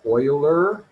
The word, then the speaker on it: Euler: was a mathematician named euler pronounced like oil like motor oil but spelled e u l e r and leonard euler wanted